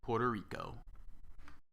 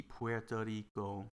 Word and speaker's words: Puerto Rico: e puerto rico you're pronouncing the u and the e that's uh because you're going by the spelling but uh but that's not how well we normally pronounce uh puerto rico uh unless you unless